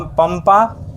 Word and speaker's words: पंपा: कम पंपा पंपा में प का क्या होगा? पी ए से प और अनुसर की मात्रा है और उसका उच्चारण म जैसा लग रहा है इसलिए यहां पे